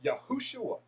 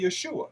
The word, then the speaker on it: Yahushua: today is called Jesus, his original Hebrew name is Yahushua. Some say Yeshua. This is simply a shortened form of the full form Yod Heh Waw Shin Waw Ayin. You will hear other pronunciations as well. However, you will see in this book that the evidence in the Dead Sea Scrolls, the Masoretic text, and kosher Torah scrolls demonstrate the name is Yahushua.